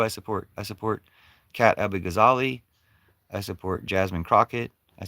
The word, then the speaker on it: Abughazaleh: Well, check out Kat Abighazali. You don't support anybody? Kupu? Check out Kat Abighazali. It's spelled KatAbugazaleh.